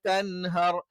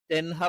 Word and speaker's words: تنهر: تقهر وأما السائل فلا تنهر തെൻഹർ ആയി പോകാൻ പാടില്ല തേ എന്നുള്ള ഉച്ചാരണവും എന്താണ് അറബിയിൽ ഇല്ലാത്തതാണ് അപ്പോ ഫലാ തഖ്ഹർ ത